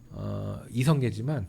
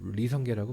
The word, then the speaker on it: 이성계: 우리는 고려의 설립자가 조선의 설립자가 이성계지만 북한은 리성계라고 발음을 하죠. 그게 다릅니다.